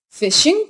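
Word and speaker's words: phishing: answers to security questions fishing pronounced like the word fishing occurs generally in the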